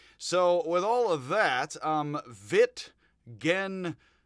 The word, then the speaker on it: Wittgenstein: So, with all of that, Wittgenstein is how it is supposedly pronounced, with a j, a little bit of a z, j, st, Wittgenstein is how I